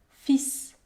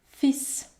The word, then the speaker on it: fils: pas la consonne elle par contre je vais prononcer la console s fils fils à sa mort ses biens furent partagés entre